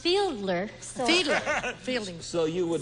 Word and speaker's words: Fiedler: Oh, Fielding. Fielding. Fielding. Fielding. I believe it's pronounced Fiedler.